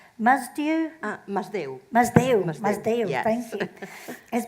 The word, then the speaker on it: Masdeu: How do you pronounce the twins' names? Masdeu? Masdeu.